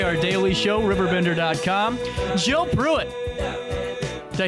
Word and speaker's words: Pruitt: Jill Pruitt.